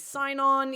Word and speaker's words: Sinon: So everybody now thinks that he's Sinon or Sinon. Sinon is how they say it in the film, I think.